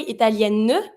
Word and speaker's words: italienne: I don't say italienne, but I pronounce my N.